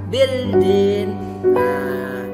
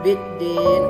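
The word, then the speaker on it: بِالدِّينِ: Jadi huruf la-nya di sini tidak dibaca, bukan bildin. Bildin bukan bildin. Seharusnya kan bildin nih, ada tanda mati huruf la di sini. Seharusnya bildin, tapi karena dia alif lam samsia dibacanya biddin, huruf lamnya tidak dibaca.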